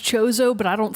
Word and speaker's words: Chozo: I say Kozo. Kozo, yeah. In Guacamelee, they have Chozo statues that give you stuff. It might but then it's also technically be fun. pronounced Chozo, but I don't say it that way because